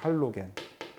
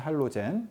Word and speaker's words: 할로젠: 할로겐. 요즘에는 할로젠이라고 읽죠. 할로젠.